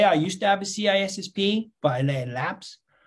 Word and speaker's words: CISSP: What do you think about CISSP or CISP? How some people pronounce it.